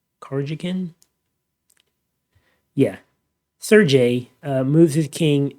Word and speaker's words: Karjakin: Karajan, I gotta figure out how to pronounce this guy's name. Karjakin?